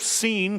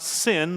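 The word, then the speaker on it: Sin: through the wilderness of seen thank you for saying seeing and not thin though it's spelled that way but I suppose there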